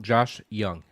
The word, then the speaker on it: Josh Jung: the uh uh the or is it pronounced Josh Young it's just young Josh Young okay Josh Young spell with a J um he's finally up